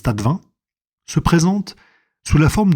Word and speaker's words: Tastevin: Le tas de vin, ça s'écrit tasse de vin, mais ça se prononce tas de vin, se présente sous la